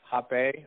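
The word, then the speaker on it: rapé: ceremony, one is called rape, or hape, or hapelita. It's spelled R-A-P-E, like rape, but an accent on it, so don't get it confused with the way it's spelled.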